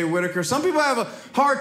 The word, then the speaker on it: Whittaker: giving my name right my name is Whittaker some people have a hard time with my last name it's a super easy name it's a British last name it's but sometimes people mispronounce Whittaker I've gotten a wind talker that's weird I've